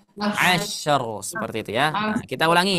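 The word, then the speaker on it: عشر: Kalau huruf shin yang ada titiknya dia harus melebar. Asyr. Nah, terakhir. Di sini ada ro sukun. Kita kemarin sudah bahas ro sukun. Kalau sebelumnya sukun, sebelumnya fathah, bacanya tebal atau tipis? Tebal. Jadi gimana bacanya? Mumtaz. Ya, jadi dibaca asyr seperti itu ya.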